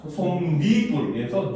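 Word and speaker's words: 솜이불: 그래서 솜과 이불이 더해졌는데 발음하면 어떻게 된다? 솜니불에서 니은이 첨가가 되었죠.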